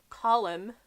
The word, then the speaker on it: column: Column is column, not calm. Column is 2 syllables but like 4 letters.